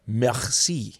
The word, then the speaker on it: merci: I tried speaking French, and you don't roll your R's. They're throaty. Mm-hmm. In French, it's like merci. So it's like like you're hawking up a loogie.